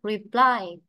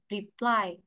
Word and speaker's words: reply: Cố lại ví dụ nhé, từ này ta đọc là reply, reply. Vậy trọng âm thì rơi vào âm tiết hai.